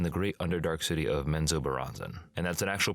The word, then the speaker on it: Menzoberranzan: once lived in the great underdark city of Menzoberranzan, and that's an actual pronunciation from the audiobook for anybody who's going